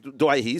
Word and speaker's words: Doueihi: that the the origins of the pronunciation Doueihi. Yes. Then we got to a World Cup and I had to go back to the other Doueihi. Doueihi, sorry, not Doueihi. Doueihi for a little while.